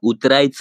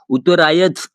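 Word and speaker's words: उतरायचं: आप अगर ध्यान से देखेंगे तो च के ऊपर मैंने बिंदी लगाई है। इसका मतलब होता है उतरायच। उतरायच ऐसे नहीं प्रोनाउंस करना है उसको। आपको यह वर्ड कहना होगा उतरायच आए। उत्तरायज आए ऐसे नहीं कहना है गाइस।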